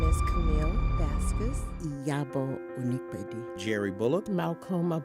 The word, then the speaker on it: Vasquez: My name is Camille Vasquez, properly pronounced, and I reside in Atlanta, Georgia.